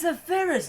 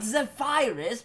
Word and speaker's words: Zephyrus: My name is Zephyrus, not Zephyrus. What the fuck is that?